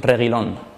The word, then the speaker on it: Reguilón: sell your regular fans this is how to pronounce my name sergio reylon cause we always give